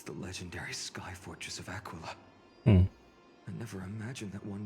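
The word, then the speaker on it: Aquila Favonia: Apparently, it's Aquila.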